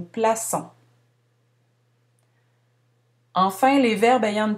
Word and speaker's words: plaçons: Remarquez le C cédille. On prononce habituellement le C comme un K devant les voyelles du mot auto, A, U et O. Lorsqu'on ajoute la cédille, on prononce comme un S. Nous plaçons.